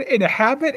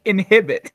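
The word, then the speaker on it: inhabit: the area evacuated individuals you said it correctly the first time and then corrected yourself with it with the wrong pronunciation you said you said in a habit and then you said inhibit shut up anyway no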